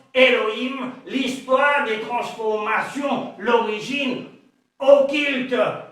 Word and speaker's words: Elohim: Dans les systèmes masorétiques, Alhim se prononce Elohim, l'histoire des transformations, l'origine